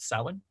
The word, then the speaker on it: Samhain: it i know it's it's printed to say um samhain but we actually usually pronounce it salmon so from to yule